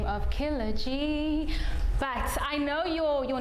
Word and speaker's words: Kila G: so how do you say your name it's kilaji and he's accompanied by his dj testes thank